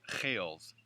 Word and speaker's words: Giels: is a family name, and my last name, Giels, is a Dutch name that in the country of the Netherlands is pronounced Geels, as if you were clearing your throat of a big wad of phlegm.